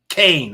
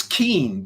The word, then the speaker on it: Kean: The lady spells her name K EN. That's keen to me. But no, she wants people to say Kain cuz she wants to be different. Okay. Leslie Kaine and Blumenthal wrote the